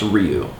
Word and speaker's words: Ryu: And someone recently told me it wasn't pronounced Ryu, it's pronounced Ryu.